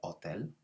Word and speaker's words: hotel: pronunciation in spanish with hotel it's a silent h so we never pronounce the h in spanish which is why it's